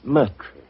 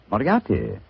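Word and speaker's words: Moriarty: People will either misspell it or mispronounce it. I'm afraid I'll have to begin calling it the way it looks. M O R I A R T Y. Miati. Moriati.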